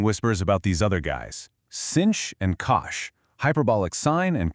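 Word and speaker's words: sinh: First up is the hyperbolic sign, which by the way, you pronounce as cinch.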